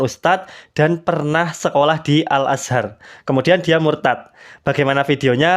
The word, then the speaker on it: Al-Azhar: si bapak ini tadi salah dalam pengucapannya bukan alazhar Tetapi dia bilangnya Alazar Alazar seperti itu baik kita akan lihat